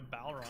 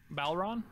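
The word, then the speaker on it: bodhrán: I've got a Balron at home. That's about the only instrument I still have around. What's a ballroom? Balron?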